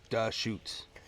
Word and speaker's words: Deschutes: It's pronounced Dashoots.